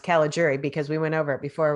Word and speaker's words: Caligiuri: c-a-l-i-g-i-u-r-i and uh and it's pronounced cala jury because we went over